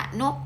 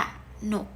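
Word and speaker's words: กนก: เนี่ย นก ก นก มัน จะ ไม่ อ่าน ว่า กะ นก ไม่ ใช่ เรา ต้อง รู้ โดย ทัน ที ว่า เรา จะ ต้อง เติม ห หีบ อัตโนมัด อ่ะ ใส่ หอ หีบ เข้า ไป ห น โอ ก หนก มัน ก็ จะ อ่าน ว่า กะ หนก แบบ นี้ เป็น ต้น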